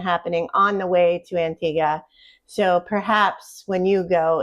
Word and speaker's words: Antigua: Antigua? Yes. Antigua, spelt spelled the same exact way in the Caribbean does not pronounce the wa at the end.